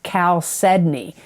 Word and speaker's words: chalcedony: Geminis for the month of August 2021 is chalcedony. And I'm going to spell it because people have asked me, what am I saying? Chalcedony. It's Chalcedony.